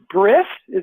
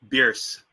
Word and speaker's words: Bierce: which I think is Briss. Am I pronouncing it right? Is that correct? No, you've swapped the R and the I. It's Bierce.